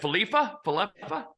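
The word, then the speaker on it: Kiner-Falefa: Falefa.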